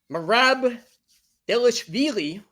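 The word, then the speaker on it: Merab Dvalishvili: But it'll be Merab Delishvili. Can't believe I pronounced that correctly, but I can't pronounce my own last name correctly.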